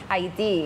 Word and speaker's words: Haiti: The flag of Haiti, or the correct pronunciation is? Haiti.